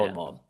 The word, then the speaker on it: Hohenwald: Yeah, Hohenwald.